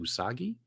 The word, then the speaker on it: Usagi: soggy I can't say his name is it usagi yeah there you go well we can dive